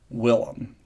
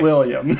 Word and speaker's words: Willem: Willem. Not William. Shut up. Willem. It rolls off the tongue that way. I know how it's spelled.